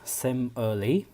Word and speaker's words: simile: first figure of speech simile is pronounced as same early it is a literally